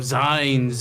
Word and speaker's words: zine: of zines in combat is it signs or scenes I don't know I've always taken it for short for magazines okay zines sure but I've also heard people say it Zion I I would I do not I always thought it was short for magazine I don't know I don't know you want to Google it fine because if it's based on magazine then I would expect a team Google says zine like like Google has